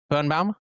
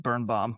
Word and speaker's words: Birnbaum: Birnbaum? That's actually probably the exact way you're supposed to pronounce it. The Americanized way is just Birnbaum, like compound word, but so yeah.